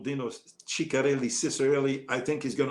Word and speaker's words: Ciccarelli: If you say Ciccarelli, they'll probably jump on you. It's because it's, Ciccarelli. Ciccarelli. That's the way to pronounce it because it's an Italian name.